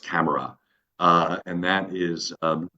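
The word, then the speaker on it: CAMARA: and that's got an acronym but it's it's pronounced camera uh and that is um driven um by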